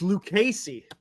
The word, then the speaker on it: Lucchesi: how you say it thank you Ace it's liey so we're gonna talk about santand there we're